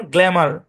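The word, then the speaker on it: glamour: তো প্রথম অংশের উচ্চারণ হচ্ছে গ্ল্যাম, গ্ল্যাম। পরের অংশের উচ্চারণ আর, এবং এই ভাওয়ালের সাউন্ডটাকে আগের কনসোনেন্টের সাথে মিলায় পড়তে হবে। তাহলে সম্পূর্ণ শব্দের উচ্চারণ গ্ল্যামার।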